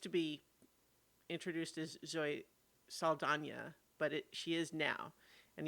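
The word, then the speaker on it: Saldaña: Um, I'm not wrong that she started having the tilde pronounced in her name semi recently, right? I don't think she used to be introduced as Zoe Saldana, but she is now.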